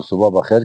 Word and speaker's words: صبح بخیر: اردو میں اس کو صبح بخیر کہتے ہیں. صحیح تلفظ صبح بخیر ہے آخر میں وہ خاموش ہے.